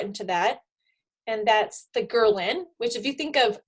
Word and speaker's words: ghrelin: that, and that's the ghrelin, which if you think of growling, to remember it, ghrelin, growling, is the hormone that makes you hungry.